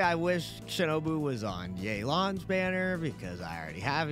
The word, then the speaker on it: Yelan: in 2.7 we've got yaylon that's how you pronounce her name after the trailer and